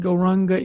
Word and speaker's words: Gauranga: And for this meditation, we will divide Gauranga into 4 syllables: Go, Ra, Ang, Ga.